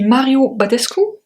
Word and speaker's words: Mario Badescu: Oh, the Mario Badescu.